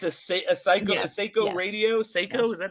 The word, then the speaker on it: Seiko: Seiko, is that how you say it?